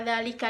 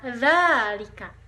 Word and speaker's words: ذلك: Nah, setelah kita mempelajari perbedaan antara dzalika dan tilka, di sini terdapat kalimat yang terlihat bahwa perbedaan antara dzalika dan tilka, yaitu pada kalimat dzalika dikun wa tilka dajajah.